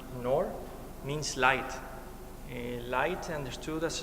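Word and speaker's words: نور: in the Arab language in know which is pronounced nor means light light understood as a spiritual line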